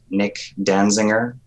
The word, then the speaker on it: Nick Danzinger: So that's at Nick Danzinger on Instagram. Basically, it sounds how it's spelled.